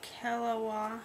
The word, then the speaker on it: Keliwa: I am reviewing the kaawa I believe that's how you pronounce it k e l i w a it is a silicone